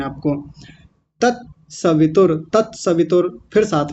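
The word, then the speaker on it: तत्सवितुर्: तस्य वितुर नहीं बोलना। यह उच्चारण बिल्कुल गलत है। तस्य वितुर तस्य नहीं होता। गलत है। क्या है? तत सवितुर।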